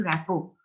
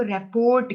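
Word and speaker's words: rapport: उसके बाद यहाँ पे एक लफ्ज लिखा हुआ है, इस्टेब्लिशिंग रैपो। कुछ लोग इसको रेपोर्ट कहते हैं, स्पेलिंग चेक कर लो, रिपोर्ट के नहीं है।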